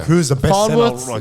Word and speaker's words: Farnworth: He's had a little dip, but I think Is that Farnsworth? Farnworth. Farnsworth. Yeah. I With said the it wrong. N, I was yeah, gonna say. yeah. I thought I was saying it wrong.